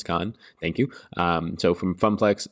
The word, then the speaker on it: Khan: Some people were nice enough to tell me that it's not pronounced Kane, it's Khan.